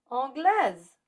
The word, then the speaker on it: anglaise: But when you add an E after a consonant, that makes us pronounce the S, like in anglaise.